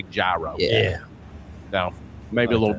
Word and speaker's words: gyro: And he was just like, "Euro." I was like, "All right, cool." But that was the first question. I was like, of anything that I could ask this man, how do you say it? And it's still gyro. I was like, I gotta know. Yeah. Us West Virginia rednecks say gyro.